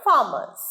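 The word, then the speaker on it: farmers: agriculture ভুল agriculture agriculture ফার্মার নয় ফার্মারস ফার্মারস মাঝের রটা সাইলেন্ট ফার্মারস ফিলস ফিল এই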